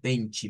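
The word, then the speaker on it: vinte: Entonces, si transliteráramos lo que vendría siendo el número 20, nos saldría algo como bench, vea, para pronunciarlo, más fácil. 6 benchi, Mateus 6 benchi, benchi.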